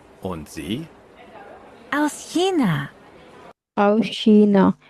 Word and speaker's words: China: आओ शीना। शीना चाइना को शीना बोलते हैं वो लोग वहां पे ना, उसकी प्रोनाउंसिएशन थोड़ी सी डिफरेंट है जो हम उसको बोलते हैं।